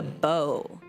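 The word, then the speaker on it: Beaux: And their name is spelled a little unique. It's B E A U X. The bow like the man. It's It's French.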